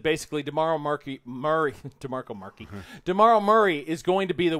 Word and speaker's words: DeMarco Murray: No, I said his name wrong, actually. Okay, you just said it wrong. DeMarco Murray. DeMarco Murray.